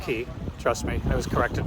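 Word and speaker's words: Cay: It looks like K, but it's pronounced Ki.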